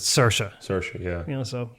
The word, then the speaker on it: Saoirse: Like apparently, Saoirse Ronan, like I think most people would pronounce her name Saoirse. Yeah. In most parts of Ireland, but she pronounces it Saoirse.